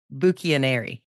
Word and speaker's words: Bucchianari: to try can I try go for it buuk anary I'm not even flattering you here I've got lifelong friends who who don't pronounce it that beautifully you nailed it really